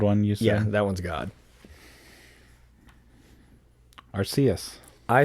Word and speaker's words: Arceus: the 12th pokemon movie it is pronounced arceus rather than some people say are seuss because i guess it looks like zeus yeah or seuss and